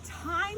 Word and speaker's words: thyme: The herb of the week is thyme, and ironically, thyme this week is spelled T-H-Y-M-E, and here's my English reading. Thyme is a homonym, a word that sounds the same and spelled differently.